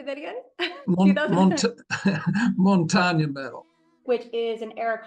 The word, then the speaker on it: Montaigne: Montaigne Medal.